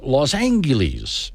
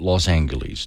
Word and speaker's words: Los Angeles: out of the way earlier this week in Los Angeles and yes that is how you pronounce it my childhood hero Bugs Bunny always called it Los Angeles do not tell me that bugs was wrong